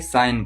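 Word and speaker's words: sign: उसी प्रकार यहां पे सिग्न नहीं पढ़ा जाएगा बल्कि साइन पढ़ा जाएगा।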